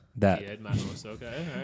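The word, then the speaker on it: Дед Мороз: Diet Maros. That. Diet Maros, okay, all right.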